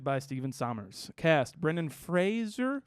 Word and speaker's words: Fraser: Fraser, I think. Fraser. And I'm not even sure I'm saying it right, but it is spelled Sorry. Fraser. Sorry, I've been Brendan. doing it this way for 32 years, man.